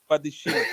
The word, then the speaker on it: Badiashile: There's no Shile here. It's Badiashile.